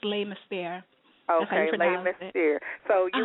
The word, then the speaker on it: Les Mystères: Is it Les Mystères, like the mystery? It's Les Mystères.